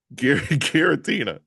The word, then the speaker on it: Giratina: Guitini. Well, first of all, why you saying Yeah, Tina. There we go. Come on. She likes to be called Tina. Gueritina, please.